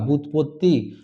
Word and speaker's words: ব্যুৎপত্তি: ব্যুৎপত্তি, জ ফলার উচ্চারণ হয়নি, এখানেও জ ফলার উচ্চারণ হয়নি।